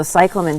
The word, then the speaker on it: cyclamen: oh no no you're fine so yeah so cyclen these are grown out of tuers um beautiful